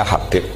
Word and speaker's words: Habib: Abdurrahman Habib assulami itu di harakatnya kitab itu ada yang nulis hubabi Yang benar Oh giih yang benar itu bacanya Habib Habib itu asulami itu ikut